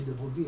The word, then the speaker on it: De Broglie: De Broglie, ça s'écrit De Broglie, mais on prononce ça De Broglie, a raison de chercher dans cette direction.